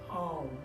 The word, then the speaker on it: Om: the 3 syllables of Om. Om is, even though it has a couple letters, it starts off with Ah, which we're going to feel through our stomach, and the O, which